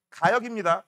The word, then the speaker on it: 가역: 이거 발음 조심하세요. 가역입니다. 가영이 아니에요.